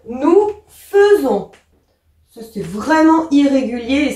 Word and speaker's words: faisons: Nous, et c'est là où on avait dit attention, on voit AI, mais on prononce E. Nous faisons.